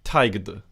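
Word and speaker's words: taighde: So this is pronounced taigd.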